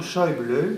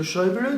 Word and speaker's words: Schäuble: Et si je vous parle aussi de Schäuble, dont les Français n'arrivent pas à prononcer le nom, et où le tréma sur lequel le tréma se place sur le A et non pas sur le U, eh bien, c'est un double titre.